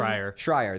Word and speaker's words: Schreier: Jason Schreier, I think is how you pronounce it. Schreier, thank you.